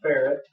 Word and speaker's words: Ferret: This is a 50 cal ferret, and no, I didn't mispronounce that. It's kind of like Barrett, but it's a ferret. It's a ferret.